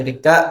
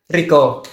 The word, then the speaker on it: rika: asing kata Rika ee kalau mungkin karena di sini menggunakan aksen AK pembacanya itu Rika. Kalau D solo itu Riko Riko Riko lebih ke O.